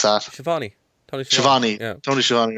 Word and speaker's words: Schiavone: I listened to, after I watched the show, I listened to Tony Schiavone's, how do you pronounce that? Shivani. Tony Schiavone. Yeah. Tony Schiavone, right. Skiavone, as Jericho used to call him.